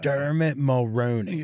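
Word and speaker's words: Dermot Mulroney: apted by uh Dermit Molron.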